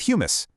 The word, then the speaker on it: humus: This right here is our vital top soil, and it's packed with humus. Now, actually, scratch that. It's not the chickpea dip. It's spelled hu.